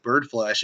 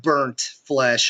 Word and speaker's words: Bird Flesh: Municipal Waste and like Bird Flesh. He's like, I love Burnt Flesh. I was like, okay, like you totally got the name wrong. Like it's Burnt, it's Bird, like tweet tweet tweet.